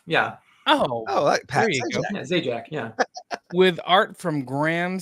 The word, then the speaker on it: Zajac: say your last name Z Jack uh like the game show host yeah oh oh Z Jack yeah with art from